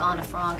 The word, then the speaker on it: Anne Frank: Anna Frank actually is the correct way to say it, and I was actually 13 when I did it.